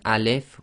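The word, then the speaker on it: ال: So they put a fathah on there so you know how to pronounce it, because the definite article at the top, which should be read as al.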